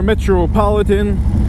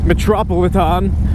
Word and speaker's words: Metropolitan: Manhattan here we are metropolitan or the correct way to pronounce it is metropolis on that's how the real Brooklyn folks say it metropolis on that's right